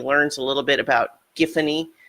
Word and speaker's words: Giffany: a little bit about giffany pronounced with the hard G which is correct and the they make a joke about the pronunciation but that's that's that's the giffany is the pronunciation they run with in any event he's